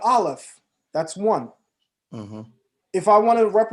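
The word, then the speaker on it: אלף: 1 in Hebrew is aleph, 1,000 is elef. All I did was shift the pronunciation.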